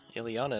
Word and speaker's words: Ileana: Yeah, Ileana is how you would say that.